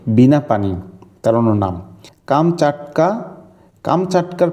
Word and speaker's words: কামচাটকা: কামচাটকার প্রকৃত উচ্চারণটা আসলে কামচাটকা।